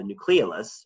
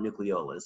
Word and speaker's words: nucleolus: in an area called the nucleolus or nucleolus either pronunciation is fine inside the nucleus where